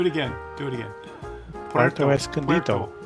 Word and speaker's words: Puerto Escondido: Puerto Escondido.